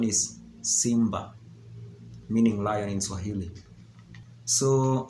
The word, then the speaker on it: simba: But the pronunciation is Simba, meaning lion in Swahili.